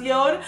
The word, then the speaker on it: Jord: come to me the comment section it is pronounced Yoda I will be showcased in my yard watch